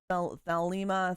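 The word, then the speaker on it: Thelema: The LMA or however it is spelled. The Lima.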